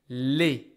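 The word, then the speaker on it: les: it's male or female I will say Le I don't hear the S this is pronounced again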